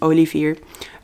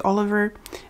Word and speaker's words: Olivier: the way, his name, Olivier. In English it would be Oliver, but we call him Olivier. It's spelled in the Dutch way.